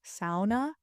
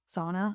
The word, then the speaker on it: sauna: Um, also in Finnish, sauna is pronounced sauna, not sauna as I just said it.